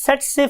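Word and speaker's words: tsetse: हम बोलते कैसे हैं इसे हम बोलते हैं स्टूडेंट्स सेट से फ्लाई सेट से फ्लाई बिकॉज के टी is silent over here हम टी नहीं बोलते तो वर्ड इज सेट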